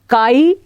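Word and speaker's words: χ: कुछ मिलता जुलता है, इसको हम काई प्रोनाउंस करते हैं, CHI काई। ये एक ग्रीक लेटर है पर जनरली लोग इसको x ही प्रोनाउंस कर देते हैं कि XA एंड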